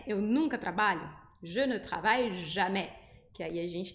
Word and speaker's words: travaille: for uma sílaba com A e L, essa letra L, aí a gente vai falar ai, como por exemplo, je travaille, eu trabalho, je travaille.